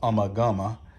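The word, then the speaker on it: Ummagumma: pink floyd album there's an album called uma guma or some people pronounce it amagama that you know it's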